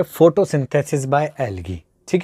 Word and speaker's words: algae: आपने एल्गी, ठीक है, एल्गी की स्पेलिंग में चाहे ALGAE आता है, पर बेटा उसको एल्गी पढ़ते हैं, यानी बड़ी ई का साउंड होता है, ठीक है।